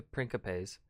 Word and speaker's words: principes: the veterans like the principes i think that's the proper pronunciation the c is a k uh but i also bounce back and forth between principe and principe um because